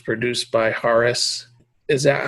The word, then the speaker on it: Hauras: You have, I'm not sure how to pronounce this, but it's called Hauras or Hauras? Hauras, yeah.